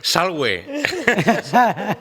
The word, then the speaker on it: salve: ahí, sí, y las V siempre son us. Entonces, claro, no se dice salve, se dice salve.